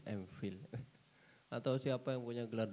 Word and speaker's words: MPhil: Ya Allah, bacanya fil ya, MPhil.